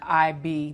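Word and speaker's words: Igbo: of the three yeah but it's spelled i g b o but it's actually three letters which is what I learned it's just IB there's no G no it's IG GB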